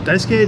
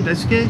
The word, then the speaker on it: Daisuke: Is it Daisuke? Daisuke? Yeah, Daisuke Matsuzaka.